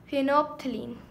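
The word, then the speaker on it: phenolphthalein: कौन सा होता है, फिनोप्थिलीन, इसमें एल साइलेंट है, ये वाला फिनोप्थिलीन, ठीक है।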